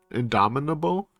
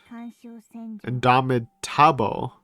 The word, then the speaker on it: indomitable: hard word to pronounce indominable indomitable indomitable I thought it was double not table indomitable whatever indomitable as